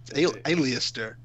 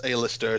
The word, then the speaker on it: Alistair: have aliased or black which is how I have to pronounce that it's not Alistair there's an e in it is it no alias tur and he's taken on